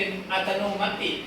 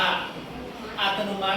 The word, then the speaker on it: อัตโนมัติ: ไม่ ออก เสียง อย่าง ถ้า มัน ออก เสียง มัน จะ เป็น อัตโนมัติ คำ นี้ ถูก มั้ย ไม่ ถูก เรา ต้อง อ่าน ว่า อัตโนมัติ เพราะ ว่า มัน ไม่ ออก เสียง สระ อีก เก่ง มาก ง่าย มั้ย